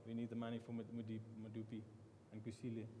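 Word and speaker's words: Medupi: We need the money for Madupi and Kusile. How do you say that? Yeah. No, you're right there. I don't want to try. Okay. Madupi.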